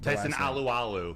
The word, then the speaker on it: Tyson Alualu: Can you pronounce that name again? Tyson Alualu.